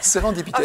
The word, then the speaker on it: sérendipité: Et vous m'appelez Sérendipité. Vous m'appelez beaucoup. C'est vraiment comme ça se prononce.